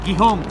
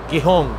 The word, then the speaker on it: Gijón: extranjera nos dicen que la g delante de una e o una I tiene un sonido fricativo velar sordo O sea a ver